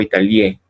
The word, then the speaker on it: Italie: Pero no se pronuncia Italie, no, tampoco Italie, ¿no? Es Italie.